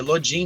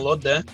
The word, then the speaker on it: Lodin: E ele vai atrás disso e aí, até onde eu sei, ele viu que realmente pra cá ia ser Lodin, não Lodan.